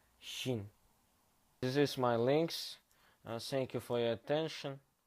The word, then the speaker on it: Qin: I pronounce it Qin.